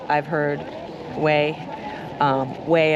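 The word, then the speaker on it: Güell: I've heard people say Guell. I've heard Way. Way, I believe, is the Catalonian pronunciation, so that's what we're going to go with from now on.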